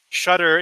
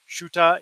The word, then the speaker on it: Shutter: And we thought this would be better, but it was actually much worse because Shutter is pronounced Shuta in Kenya. They don't pronounce R's at the end of a word.